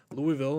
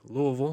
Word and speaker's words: Louisville: up on Wednesday when Louisville or Louisville, however you like to pronounce it, L, you know, you can get really in there with the no syllables.